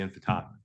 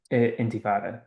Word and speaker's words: intifada: He says, globalize the intifada, right? Intifada.